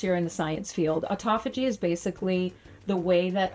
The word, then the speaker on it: autophagy: You said it right, autophagy.